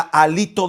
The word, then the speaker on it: hálito: Es con H. Acento en la, hálito de vida.